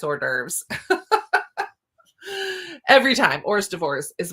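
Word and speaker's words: hors d'oeuvres: cracks me up because every time I see it I read it phonetically so I say ORS divorce in my head and then I'm like wait a minute I know that's not right what is it and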